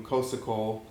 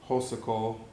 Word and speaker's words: Xhosa Cole: I was calling you Kosico and it's actually Hosle from the way you explained it, but you kind